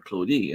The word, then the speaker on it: Claudie: So Claudie, instead of an A, it's an E. Claudie. You don't pronounce the last letter because I in French is E. In French, my name would be. You say, but obviously the I is for E.